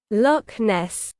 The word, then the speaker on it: Loch Ness: Hock is no CK. Loch Ness. Happy? That's how you fucking say it.